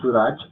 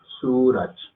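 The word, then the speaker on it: सूरज: No Suraj, sino Suraj.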